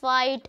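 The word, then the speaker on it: fight: अब आपको क्या करना है, यहाँ पे वर्ड बताना है के, यहाँ पे के जो है वो साइलेंट होता है। अब देखो इसमें नेबर, डॉटर, फाइट, स्ट्रेट, इसमें क्या हो रहा है कि जो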